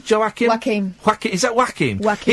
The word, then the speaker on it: Joaquin: Is that how you pronounce Joaquin?